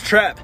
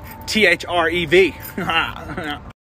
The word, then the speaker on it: Threv: Name's Trev. T-H-R-E-V. T-H-R-E-V? Threv? Nah, bro. The H is silent.